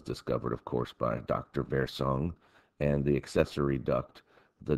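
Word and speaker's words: Wirsung: called the duct of versong you know if you go with the German pronunciation I believe that was discovered of course by Dr versung and the accessory duct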